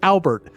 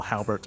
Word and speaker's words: Albert: s my name is Albert very well Halbert no it's the H is silent I don't know why I wrote Halbert Jim Halpert of the